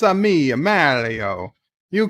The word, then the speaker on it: Mario: love uh mario uh your name is pronounced mario you uh you need to tell your bosses however powerful you may think they are that your name is mario it is not mario and you will not